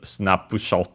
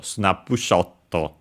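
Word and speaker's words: スナップショット: also that in Japanese snap pushto uh in that case uh extended accented on the uh shot of the shot uh so snap pushto But yeah, uh abbreviated on the N as expected.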